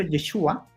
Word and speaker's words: Yeshua: ahora si entramos como en materia histórica, eh Yeshua es muy probable que en Galilea no le hayan dicho Yeshua, sino que Yeshu porque a los galos tenían